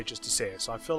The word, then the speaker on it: Justiciar: See, I'm saying it correctly this time, Justiciar, not Justicar.